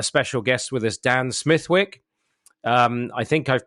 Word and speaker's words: Smithwick: The only place in the world where Smithwick is not pronounced Smithwick is in Ireland, where it came from, and there it's pronounced Smithwick, like Smithwick ale.